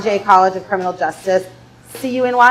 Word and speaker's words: CUNY: C-U-N-Y, how do you pronounce that? CUNY?